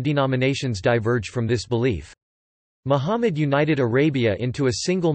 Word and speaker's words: Muhammad: Muhammad Arabic, Mumd pronounced Muhammad, c.